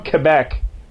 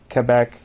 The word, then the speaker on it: Quebec: I'm just looking at he's from he's from Quebec so BBA oh it's uh I would say